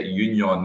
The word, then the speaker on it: Union: against uh union who i'm told that's how pronounced not usdr i'm told it's a union that's uh how they refer to uh in belgium well morelos did look